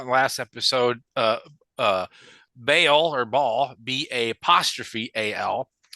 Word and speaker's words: Bael: Is it Baal or Ball or I don't even know how to say it. Yeah, so I think the demon itself in the Goetia is Bael, Yep.